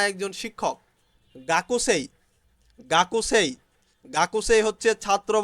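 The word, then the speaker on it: 学生: গাকুসেই, গাকুসেই, গাকুসেই হচ্ছে ছাত্র বা ছাত্রী স্টুডেন্ট, গাকসেই স্টুডেন্ট, গাকসেই স্টুডেন্ট। এখানে গাকুসেই কিন্তু জাপানিজরা উচ্চারণ করে গাকসেই, গাকসেই, গাকসেই, গাকসেই ছাত্র বা ছাত্রী।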